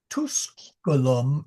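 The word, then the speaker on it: Tusculum: Estie quirum estum at nona said good good I watch the o and the tusulum is a that is a short u so just tuskulum You're making a little bit long, but okay.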